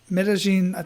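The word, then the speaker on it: Medellín: And now he lives in Medellin, I'm pronouncing that right, Medellin, Colombia, like where the drug lords are at, and people get killed every single day.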